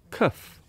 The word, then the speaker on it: cuff: Does the word cuff and cough have the same pronunciation? No, they don't. So cuff is cuff, cuff. Cough is cough, cough, cuff, cuff. So that is your cuff, and this is cough, cough.